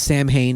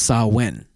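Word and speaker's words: Samhain: know you know and it looks like it says Sam Hayne it's spelled s m ha a i n but in the Celtic or the GIC language it's saen uh it was just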